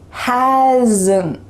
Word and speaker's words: hasn't: Hasn't. Do you hear that little schwa sound added? It's the first rule.